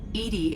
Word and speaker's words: EDI: is a jar why are you named edie edie is the phonetic pronunciation of ed that is an acronym for